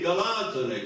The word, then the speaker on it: Galatone: Casomai io una cosa del genere la darei a Galatone, perché Galatone, che ha quell'accento sdrucciolo che viene prima, che sta a indicare proprio il latte, Galacton, significa latte in greco.